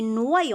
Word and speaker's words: noyau: On dit noyau, on a dit oi, les lettres oi font le son wa, donc noyau. On dit pas noyau, un noyau, donc y se lit deux fois, une fois pour chaque syllabe. Il complète la première syllabe et il fait le son y pour la deuxième.